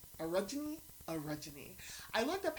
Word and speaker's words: orogeny: people who are able to have what's called orogeny. Orogeny. I looked up how to pronounce that, and I can't even tell you